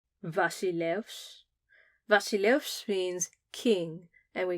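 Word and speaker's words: βασιλεύς: V is for Vasilevs, Vasilevs.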